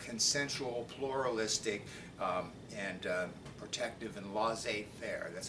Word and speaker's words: laissez-faire: So pay careful attention to things like consensual, pluralistic, and protective and laissez-faire. That's how you pronounce that funny French word, laissez-faire.